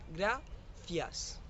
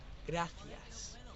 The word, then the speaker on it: gracias: Le he escrito así en coreano, gracias, pero en verdad se pronuncia gracias. La G se une con ra, gra, y la C suena como el de thank you de inglés. Gracias, gracias.